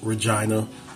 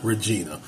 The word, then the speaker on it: Regina: plain versus defendant or Regina versus accused is pronounced Regina not Regina I caught hell the first time I said Regina it's Regina uh the courthouse the trial